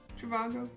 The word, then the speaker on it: Trivago: Trivago? That's how you say it.